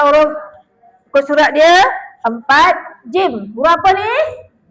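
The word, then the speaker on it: جيم: Ha bukan huruf jin. Ada tak orang kata jin? Ada mula-mulanya. Sebab apa dia punya ejaan jim ya mim? Dapat bibir jim. Jim. Ha macam tu. Kalau anak cucu tanya jangan sebut jin pula ya.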